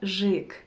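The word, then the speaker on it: ёжик: but it's and also it's very important to say that it's this this letter is always stressed in any word in russian so you always have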